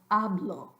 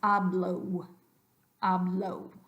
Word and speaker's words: hablo: do that so now I want you to pronounce the Spanish oh but make sure your lips stay exactly where they are and they don't close at the end of it so just keep your lips frozen and say oh oh so hablo hablo instead of hablo low so that's one gringo